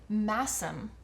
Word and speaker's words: Masham: This is a 75% BFL, 25% plot twist of the century, masam. That was never on my list of ways that might be pronounced. 25% masam base.